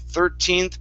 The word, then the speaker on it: thirteenth: of saying 14th birthday it's third give me an er sound thirteenth birthday there you go that's it